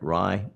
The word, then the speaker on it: Rai: On September 2nd, 2025, Toccoa filed the confidential direct testimony and exhibits of witness RAI, I'm going to pronounce that Rye, Tripp, and Harry Smith.